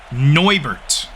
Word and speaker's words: Neubert: It is also brought to my attention that the special teams unit for the Milwaukee Bees, I've been pronouncing wrong this whole game. It is Chris Pittinger and Rich Neubert.